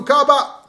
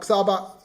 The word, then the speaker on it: Xaba: JJ Teron is on for Kaba. Not Xaba, like I pronounce it, Kaba.